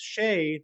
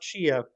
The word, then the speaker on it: Shay: Our other top-tier patron is Shay, not Shia.